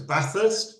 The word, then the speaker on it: Bathurst: So there's a 137-mile road to Bathurst, and it is pronounced Bathurst, not even though it's named after Lord Bathurst.